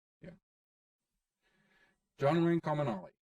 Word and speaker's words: Comunale: John Wayne Comunale. Yes, that's right. See. Pro tip number 1, learn how to pronounce the author's name. Yeah. John Wayne Comunale.